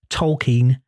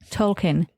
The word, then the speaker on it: Tolkien: It's more Tolkien, though. Keen. She's saying keen.